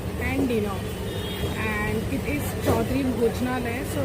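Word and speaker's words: Chaudhuri Bhojnalaya: So that, as you can, as I have pronounced their name, it is Chaudhary Bhojnalaya, and I will give you the address details.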